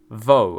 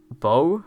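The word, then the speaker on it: voe: link to the word vo and he responds sorry bow Risa then chastises him for not pronouncing the word correctly telling him to bite his lower lip as he says it this means that canonically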